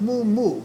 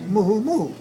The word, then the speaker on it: muumuu: spelled and you you which is not pronounced move so mu you and you you so it's not move move it's listen to this